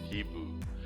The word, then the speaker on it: Hibou: stick evil evil evil that's how you pronounce it he boo French for owl so that is he